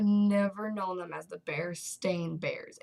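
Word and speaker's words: Berenstain: always known their name that's not their name it never has been they have never been known as The Berenstein Bears their name is the bear stain bears that is their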